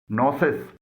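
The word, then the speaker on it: gnosis: नोसिस, यहाँ पर भी जी के बाद एन आया है और ये जी साइलेंट है।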